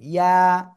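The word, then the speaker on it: ياء: তারপরে যে অক্ষরটা শিখেছিলাম এই অক্ষরটা জিহ্বার মধ্যখান, তারপর আবার উপরে তালুর সাথে লাগিয়ে সিম্পল উচ্চারণ করতে হবে, ইয়া। এক লিফ টেনে, ইয়া।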